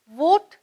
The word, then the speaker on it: vote: vote வந்து we words வந்து பல்லால கீழுதட்டை கடித்து vote, vote. அதே இது W வேர்ட்ஸ் வந்து round your lips, one, we, where. Okay, இப்படிதான் ப்ரொனவுன்ஸ் பண்ணணும்.